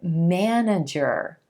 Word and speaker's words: manager: This word, manager, manager, where we emphasize the first syllable and the A as in black sound.